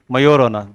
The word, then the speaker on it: Majorana: Its name is Majorana. J is silent.